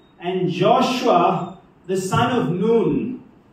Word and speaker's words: Nun: Joshua the son of noon that's the Hebrew pronunciation of the word noon because we say son of none it causes a little